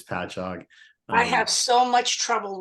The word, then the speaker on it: Patchogue: Oh, by the way, in the spirit of pronunciation, as a native New Yorker, it's Patchogue. If you ever talk to the curator there, it looks like it should be pronounced Patchogue, but it's Patchogue.